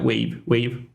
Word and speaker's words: WAV: How do you pronounce WAV? Like the file extension? WAV file. Yeah, wave.